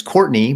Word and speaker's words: Courtenay: But it's her name is Courtenay Turner, and it's Courtney, but like it's spelled Court and then Enay Turner, and she's supposedly an